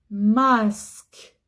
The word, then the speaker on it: masque: Un masque. C'est vrai, il y a une voyelle avant, mais il n'y a pas de voyelle après. Donc je prononce pas Z. Je prononce S.